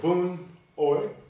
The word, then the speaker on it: Boon Ooi: we are today going to meet uh professor boone oi did i pronounce that correctly yeah that's correct and uh